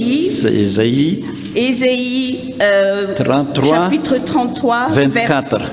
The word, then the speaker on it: Isaïe: Le message que nous allons recevoir aujourd'hui se trouve dans le livre d'Ésée, Ésée chapitre 33. Isaïe, ça se prononce Isaïe.